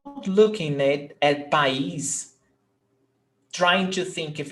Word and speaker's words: país: Então, nós temos país. País é hiato. Nós temos A, vogal, I, vogal. They are separate syllables. País.